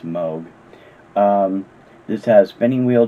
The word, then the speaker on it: Moog: it switched on rock by the moog machine or moog machine depending on how you pronounce it i've always thought it was moo but i guess it's moog um this has spinning